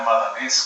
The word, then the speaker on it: Madanes: Chloé Madanes también, por supuesto, o Chloé Madanés, como la pronuncian algunos, aportaron ideas que tienen que ver